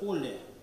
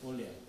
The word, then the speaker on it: оле: Футбольные болельщики его хорошо знают, но почему-то они его произносят с ударением на другую букву. Слово это «оле», а болельщики почему-то произносят «оле».